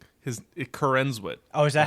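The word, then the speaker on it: Corenswet: that's his name his coren oh is that how you say it I think so it's not corn and sweat on corn and well that's how it's it's spelled there's only one n yeah you're saying corn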